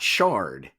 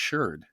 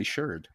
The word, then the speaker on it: sherd: But in archaeological, in those environments or in that context, it's usually pronounced sherd. Archaeologists always say sherd. Well, maybe they did it just to rhyme with nerd.